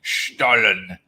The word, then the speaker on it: Stollen: Oh, look, John Francis says pronounced Stollen, which comes as no surprise whatsoever. Stollen.